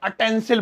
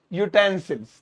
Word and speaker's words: utensils: यूटेंसिल्स, पहली बात तो बहुत सारे लोग इसे अटेंसिल बोलते हैं। भाई अटेंसिल नहीं है, इसकी प्रोनाउंसिएशन चेक करो गूगल पे, आजकल तो एआई टूल्स आ गए। यूटेंसिल्स, ठीक है।